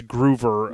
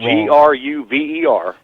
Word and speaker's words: Gruver: Well, if any of the listeners Google his name, Lenny, and I said it's Groover. I said it wrong. Gruver.